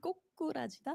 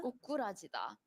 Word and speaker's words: 고꾸라지다: It sounds funny, right? Isn't it? 꼬꾸라지다? 고꾸라지다. Is it It's like scoop? emphasizing. 고꾸? No, both is like double. 기억? or Just like on the 고- second syllable. so 고꾸라지다. 고- Mhm. 꼬꾸라지다. 고꾸라지다. 고꾸라지다. There you go.